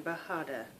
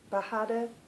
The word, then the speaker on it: bajada: it's called B bahada it's a g in it and I think you pronounce that with a um a h Sound by baraco Design Team bahada tell me what you